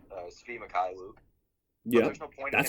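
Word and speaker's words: Svi Mykhailiuk: Yeah, Svi Mikhailuk is how you say his name.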